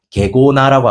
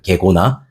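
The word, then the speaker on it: γέγονα: 이 단어는 헬라어로 게고나라고 하거든요. 발음을 조심해야 돼요. 게고나.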